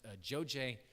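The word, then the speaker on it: Dzodze: And then after that, we'll have Mark come up and talk about their work in, it's pronounced Joje, Ghana, and I'll let him share some pictures.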